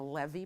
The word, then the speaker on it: Lewy: a Lewy body I think it's actually a levee body I think the guy was Jewish but and that's how you properly pronounce it it's a Lewy body and nobody